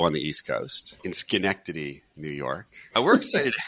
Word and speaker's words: Schenectady: You nailed it, Schenectady. You pronounced that properly.